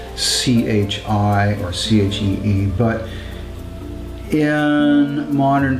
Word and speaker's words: qi: is very famous actually often see it spelled c-h-i or c-h-e-e but in modern opinion which is